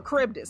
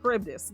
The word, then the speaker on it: Charybdis: Or, no, Charybdis, that's how you say it, Charybdis.